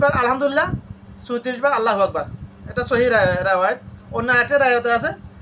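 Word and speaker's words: أكبر: আকবার না। আকবার। আল্লাহু আকবার।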